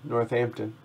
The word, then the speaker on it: Northampton: in uh in northampton you don't pronounce the h really in it do you northampton oh that's really interesting